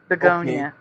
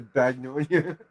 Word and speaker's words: Begonia: If that's how it's spelled, that's a Mandela for me because it was beg, B-E-G for me. Okay. Begonia. Ah. Okay, so you don't blame me for calling it a bagnonia.